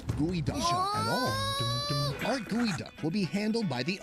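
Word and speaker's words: geoduck: First off, it's pronounced gooey at all. Our gooey duck will be handled by the owner, Chef Vin.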